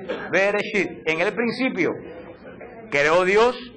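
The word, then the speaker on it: בראשית: Bereshit. Beresit.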